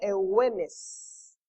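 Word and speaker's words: εὐγενής: La palabra noble es un adjetivo griego que se pronuncia eugenes, y lo que significa es bien nacido.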